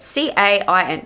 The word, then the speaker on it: Cain: Not gonna lie, is it Cain? Is that his name? Hang on, let me have a look. Cain. I think that's how you say it. C-A-I-N.